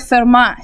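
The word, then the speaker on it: Fermat: theorem it's also called FMA theorem T is silent FMA theorem says if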